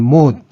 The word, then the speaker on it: mode: atau dalam bahasa Inggrisnya disebut dengan mood yang sering diucapkan sebagai mode oleh orang Indonesia seperti pada mode pakaian atau mode potongan rambut Besaran ini disimbolkan dengan